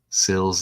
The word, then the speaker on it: Sills: Sills like kills, and you get it equals 33 days after the anniversary of the husband making the phone call.